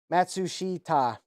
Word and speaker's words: Matsushita: thank you sloppy Malibu matsushi ta thank you breaking it down uh by syllable yeah so Panasonic is